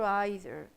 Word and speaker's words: either: do you pronounce it either either it depends it depends on the area where you speak English it's like often or